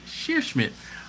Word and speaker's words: Scheerschmidt: Sheer Smith. Nice. I just, it's SCHEERSCHMIDT. Sheer Schmidt. I'm proud of myself on that one. Speaking of proud of myself for pronouncing names, where is Luke Calamatis?